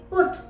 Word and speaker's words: put: इसके अलावा भी और भी बहुत से वर्ड्स हैं जैसे पुट, PUT, पुट। इन सभी वर्ड्स में हमने यू को ओ की तरह प्रोनाउंस किया है, जबकि यू दो कॉन्सोनेंट के बीच में आ रहा है।